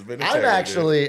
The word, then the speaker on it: Vinatieri: See, that's no, it's Vinatieri. I'm actually pronouncing it properly because I care about the Italian You're American adding like culture.